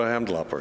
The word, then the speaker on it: Hamdullahpur: It's like Cindy Lauper, right? So you just say Cindy Lauper, go Hamdullahpur.